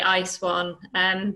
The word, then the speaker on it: ISWAN: So Catelin comes to us from ISWAN, which is been pronounced two different ways today. So that would be my first question: is ISWAN or ISWAN, or how we're not precious about it. Most of us inside say ISWAN, but it makes just